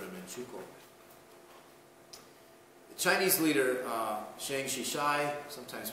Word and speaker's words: Chiang Kai-shek: The Chinese leader, Chiang Kai-shek, sometimes pronounced Chiang Kai-shek, appealed to the League of Nations for help.